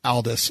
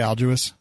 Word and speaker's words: Aldous: stop being a brad it's pronounced Aldous sorry what did I say I'll do us whatever guy from Harry